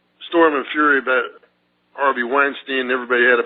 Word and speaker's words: Weinstein: I can't see why it's Dianne Feinstein and Harvey Weinstein it's the same word as a German word for a beer mug right Steen or Stein anyway this call Harvey Weinstein I would say after